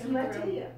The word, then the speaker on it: Mattea: Yeah, it's Mattea.